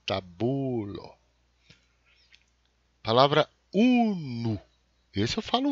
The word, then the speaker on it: tabulo: Em Esperanto, por causa que o acento é sempre na penúltima sílaba, é tabulo.